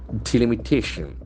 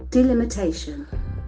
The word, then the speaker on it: delimitation: Delimitation, we will see where is the accent falls on. Okay, Delimitation. delimitation, can see Delimitation. again the T sound has got the accent.